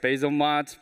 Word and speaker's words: Bzlmod: as its code name because it's uh weird to pronounce so people just call it basil mod or basil module that's all fine uh